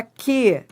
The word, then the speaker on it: que: Porque esse U não é pronunciado. Isso aqui é um dígrafo. Isso aqui é um dígrafo. Entendeu? Olhe para mim. Se é um dígrafo, isso você vai aprender já já. Se forma um dígrafo, então não forma um ditongo, porque ele não é pronunciado, esse U. Então ele não tem som.